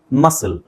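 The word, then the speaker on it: muscle: ಹೇಳಿಕೊಡ್ತೀನಿ ಈಗ ಇಲ್ಲೊಂದು ಎಕ್ಸಾಂಪಲ್ ಇದೆ ನೋಡಿ ಎಂ ಯುಎಸ್ಸಿಎಲ್ಇ ಮಸಲ್ ಮಸಲ್ ಈಗಇಲ್ಲಿ ಈ ಪದದ ಒಂದು ವಿಚಿತ್ರ ಏನು ಅಂತ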